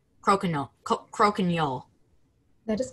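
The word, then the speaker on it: croquignole: Are there any alternate pronunciations? There is crokinole, crokinole.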